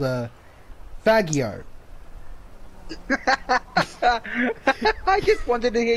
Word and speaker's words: Faggio: My red Faggio.